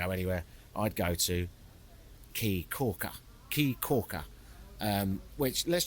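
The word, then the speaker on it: Caye Caulker: C A ye so where I went the island is called key Corker but it's spelled c a Yee which surely spells K I mean for [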